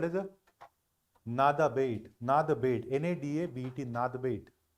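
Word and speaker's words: Nada Bet: Write down one more from India called as a Nada bait. Nada bait. N-A-D-A-B-E-T. Nada bait. B-E-T. Nada bait. नादा बेट और नाडा बेट, पता नहीं गुजराती लोग कैसे pronounce करते हैं इसको.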